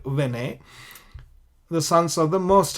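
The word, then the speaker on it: בני: Bene, where there's no dot here, you normally pronounce Bene, or here Vene.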